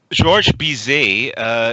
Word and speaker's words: Georges Bizet: How do you pronounce that? Georges Bizet.